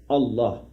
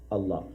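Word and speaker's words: الله: But the correct pronunciation again is Allah, Allah.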